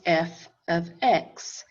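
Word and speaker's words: f(x): then this is pronounced f of x and f of x equals three plus ten x if this is pronounced f x well and this is pronounced f 9 what replaced the x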